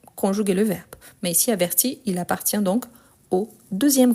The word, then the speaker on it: avertit: à la fin ici averti j'entend le i averti averti donc ici c'est la différence par rapport à la prononciation donc ah mais je n'entends ni le S ni le T non mais c'est la marque par rapport à la conjugation donc je les écrit toujours mais je ne les prononce jamais donc averti averti averti